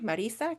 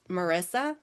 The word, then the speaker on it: Marisa: I've only corresponded with her via email and I know how important it is when people say my name, Marisa, correctly versus Marissa. If you call me Marissa, like I'm sorry, I